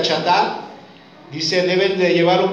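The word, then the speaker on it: חַטָּאת: palabra chatar, aunque se escribe así, pero se pronuncia chatar, dice, deben de llevar un becerro como una ofrenda por su pecado y presentarlo ante el tabernáculo."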